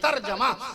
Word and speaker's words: ترجمہ: ایسی ترجمہ نہیں, ترجمہ نہ کہا کیجئے, ترجمہ جیم پہ زبر لگائیے, ترجمہ.